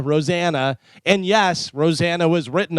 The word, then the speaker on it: Rosanna: Rosanna. She says it does not rhyme with banana. Rosanna.